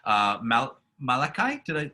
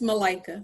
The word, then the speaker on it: Malika: Malachi? I think I said it wrong. It's Malika. Like I like a Malika.